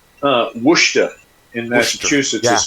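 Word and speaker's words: Worcester: It's like uh Wooa in Massachusetts is spelled Warchester. Yeah. If you heard that, you would spell it a certain way. But when you say Warchester, no wor.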